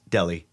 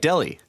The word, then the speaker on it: Delhi: oh it's pronounced like Delhi yeah the H is silent the flimsy explanation let's